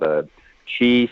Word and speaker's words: Qi: It's called Chi Space-Time Warriors, and it's spelled QI, Space-Time Warriors.